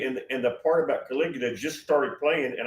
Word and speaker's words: Caligula: Said, "Uh, the Caligula, the guy's name is Calig." She can't even pronounce it. Caligula.